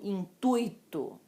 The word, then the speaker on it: intuito: Assim como intuito. Eu fiz isso com o intuito de ajudá-los, não foi com intuito. Intuito, ok?